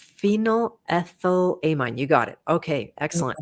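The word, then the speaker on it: phenylethylamine: How would you pronounce this, Dmar? Um, uh, phenylthylamine. Pheninolethylamine. phenyl ethylamine.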